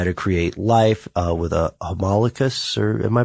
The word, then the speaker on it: homunculus: People were conducting experiments to see what would happen, to try to create life, with a homunculus, or am I pronouncing that correctly?